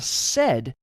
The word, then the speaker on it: sed: Awk is spelled A-W-K. In another demo, we took a look at the sed stream editor, S-E-D, which is also used to filter out textual data.